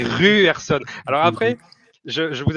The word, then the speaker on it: Ryerson: Parce que j'en profite pour dire un truc, le Y en norvégien, il se prononce U. Donc je boue intérieurement à chaque fois que vous dites Ryerson, c'est Ruerson.